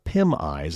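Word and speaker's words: PimEyes: news for 29.99 a month a website called pim eyes and that's spelled p-i-m-e-y-e-s pim eyes offers a potentially dangerous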